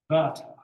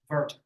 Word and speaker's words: Werther: Opposite with German. When you see a W, they make a V sound.